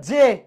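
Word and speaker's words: জ্যা: উচ্চারণ সবাই কি বলতেছে এটা জে নাকি যায় ও মাগো এটা উচ্চারণ হচ্ছে জে আচ্ছা হইছে এটা উচ্চ আরো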